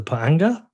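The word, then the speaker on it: pa'anga: you do have a local currency is it pronounced the panga exactly perfect yeah well that's a that's a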